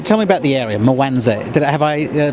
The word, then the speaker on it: Mwanza: So tell me about the area, Mwanza. Have I pronounced it correctly? Mwanza, well done, mate.